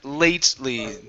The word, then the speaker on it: lately: here is the word lately e we do not pronounce that e does not get a sound so it's late good all right nice